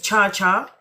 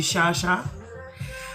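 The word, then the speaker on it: Chacha: Do people think my name is Cha Cha? Is like is that the the the first um pronunciation that clicks into people's heads when they see my name is Chaa? You've never heard of a Charlotte Shantel Charmaine. So it doesn't click that it would be Shasha.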